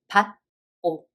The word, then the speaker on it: 받고: In third example, the first syllable has d sound 받침 and it's followed by g sound consonant. So we read it as 받고, 받고.